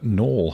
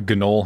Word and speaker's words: gnoll: subconsciously yeah it's like yes you do know that it the g is not supposed to be pronounced but you're not actively